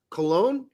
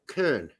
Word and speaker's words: Köln: Cologne. It looks like Cologne to you, but in German it said Köln. That's how it's pronounced in German.